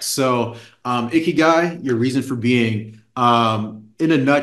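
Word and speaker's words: 生きがい: It's a Japanese concept called ikigai. Ikigai, I think is how you pronounce it.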